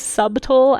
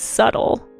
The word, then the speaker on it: subtle: Um, so I actually didn't know that you pronounced what I thought was subtle as subtle until I was relatively old as well.